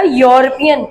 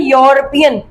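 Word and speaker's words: European: यहाँ पर the moon, यूरोपियन country, मैंने आपसे क्या कहा, यूरोपियन, वाई का साउंड आ रहा है, यूरोपियन, तो यहाँ पर भी आपके पास आ लगेगा, एन नहीं लगेगा।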